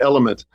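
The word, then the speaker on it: LMNT: I use a thing called, it's getting very widespread now, but um LM NT, say it like element, and it has sodium, potassium, and salt.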